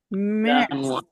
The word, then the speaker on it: März: ওকে, এরপরে হলো ফেব্রুয়া, ফেব্রুয়া, ম্যার্স। এটা আর পরে উমলাউট আছে, এটা এ হবে উচ্চারণ, এজন্য ম্যার্স।